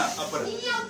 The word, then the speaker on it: अपरा: हो रहा है ना प्रोनाउंसिएशन कंफर्म? अपरा बोलना है, कपरा मत सुनना, है ना। अपरा समझ में आ रहा है?